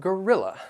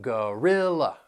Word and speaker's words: gorilla: we have Gorilla and gorilla these words have three syllables that that first and third syllable you'll hear that schwa sound and the stress is on the second syllable gorilla gorilla and this gorilla